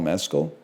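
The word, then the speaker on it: Mescal: I think this might be Paul Mecoll, man. That might be Paul Mecoll as well. That's definitely Paul Mezcll. Say it like the tequila, bro.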